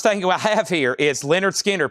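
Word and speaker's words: Lynyrd Skynyrd: First thing we have here is Leonard Skinner, pronounced Leonard Skard, Tuesday's Gone with the Wind.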